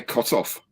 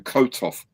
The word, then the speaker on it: Kotov: yeah you say his name Quick is Al cut off you emphasize the second C of his so cut off rather than kotov says I just couldn't call him that couldn't